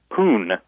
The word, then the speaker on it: pwned: And when I first heard it, my friends pronounced it poon, as if just like it looks, just poon, with no vowel.